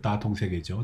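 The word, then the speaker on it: 大同世界: 그리고 중국 경제 3단계 발전론에서 온포에서 소강, 그리고 대동으로 이어지는 내용들이 어떻게 변화하고 있는가, 중국식으로 발음하게 되면 원바오, 샤오캉, 그리고 따통세계죠.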